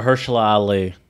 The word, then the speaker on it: Mahershala Ali: Mahershala Ali. Thank you. Yeah, I can never pronounce his name right.